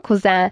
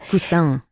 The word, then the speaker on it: Cousin: Lo pronunciamos a la francesa un poco, ¿no? Cousin. Cousin.